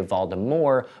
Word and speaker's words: Voldemort: du misconception number nine the t is pronounced in Lord Voldemort I mean it's kind of up to you like for example I tend to say it but I'm going to talk about it anyway because pronunciation is fun during a 1999 book signing Rowling was asked how to pronounce the name she responded I say vmore but I'm the only one misconception number 10 Voldemort's